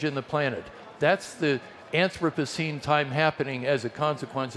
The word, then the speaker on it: Anthropocene: big fancy term in modern science which is pronounced Anthropocene and this notion that has become current in